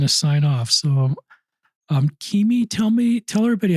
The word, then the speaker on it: Kimi: It's spelled K I Mi, pronounced Kimi, like Mimi with a K.